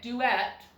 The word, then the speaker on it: duet: Now, can this U still make the long sound even with the accent on the end of the word? Yes. U can make the long sound even when it is open but unaccented.